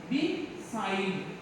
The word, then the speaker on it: beside: This is the second syllable. Between. Beside.